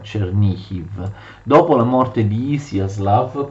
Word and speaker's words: Chernihiv: Vi ricordo che Chernigov viene pronunciato in ucraino Chernihiv.